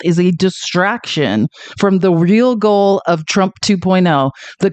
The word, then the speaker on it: Reich: know we love Robert someone told me it's Robert re not Robert Reich I don't know I